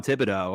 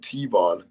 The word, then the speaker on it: Thibodeaux: on how do you say his name t-bon thibodeaux okay you just dude you got you said cave on right you're illegal you said t-bond really jermaine johnson ii going to the atlanta